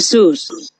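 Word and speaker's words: Jesús: Jesus but there is another way of pronouncing that name here Susan that is the Spanish version of Jesus you see with a little accent on top of you now why this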